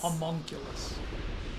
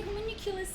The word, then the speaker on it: homunculus: need it please rewind to how you just pronounce them is that common homunculus no but they say communiculous in the enemy they're talking no they do